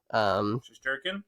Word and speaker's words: Shesterkin: Shesterkin?